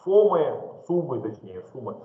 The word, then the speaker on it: сум: Кстати, проблемой для узбеков бытовой является то, что суммы, они, ну, он пишет почти как сом, поэтому они его иногда, когда они его произносят, похоже на сом, но он по самом деле сум скорее.